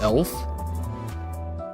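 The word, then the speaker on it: Öufi: It's pronounced elf. What? Tell me this is pronounced elf? Elf Association? Yeah. Oh. I looked up the pronunciation for this, and I did come across that, but I was like, no shot that's right, because that is just not how it's spelled.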